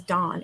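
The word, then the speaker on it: Dahne: psychics i don't know i think her name is dawn it's spelled d-a-h-n-e i know i want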